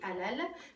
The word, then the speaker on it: halal: En français, comme on Halal. ne prononce pas le H, donc c'est un H muet, on dit halal, mais en arabe on dit halal.